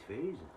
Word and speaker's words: FaZe: Pour les anglophones, ça va être simple, ça va être FaZe.